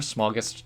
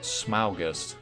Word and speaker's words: Smaugust: Smaug, like from The Hobbit, and August. So, I guess it should be pronounced SMAUGUST.